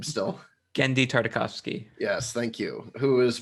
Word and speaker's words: Genndy Tartakovsky: I can't pronounce his name still. Genndy Tartakovsky.